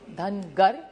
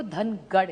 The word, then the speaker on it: धनगर: एक तो धनगर समाज की बड़ी मांग है कि उनको ट्राइब में धनगर, महाराष्ट्र मराठी में धनगर कहते हैं, नॉर्थ में उसी को धनगढ़ कहते हैं। सो इट is only a pronunciation thing.